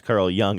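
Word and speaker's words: Carl Jung: I I just I think the joke here though is that young is pretty easy to pronounce because it's spelled phonetically whereas Carl Young is not spelled phonetically.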